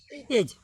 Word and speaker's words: edge: जैसे एक मीनिंग हम लिख दें EDGE, ठीक है। यहाँ का पढ़ भी एज, यहाँ पढ़ भी एज, एज मतलब का हो किराना, किनारा, ठीक है।